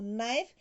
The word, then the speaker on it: knife: before uh right wrong k before n knee no knife g before and no